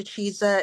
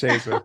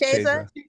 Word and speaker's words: Cheza: Cheza. It's Cheza. Sorry. Yes. I'm so sorry. Is either a short E or it's pronounced almost like a long A, but it's never a long E.